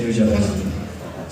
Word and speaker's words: Nujabes: And then he flipped it and said Nujabes. So just remember, it just rhymes with you the best.